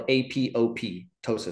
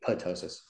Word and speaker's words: apoptosis: about earlier is apotosis it's spelled AP o ptosis so you read it and you say it looks like it says apoptosis but it's actually apotosis and apotosis is basically